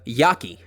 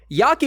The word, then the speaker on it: jaki: Next, we have Yaki. And I tend to draw it with a random scribble. Yaki is a fun one, and that's spelled J-A-K-I.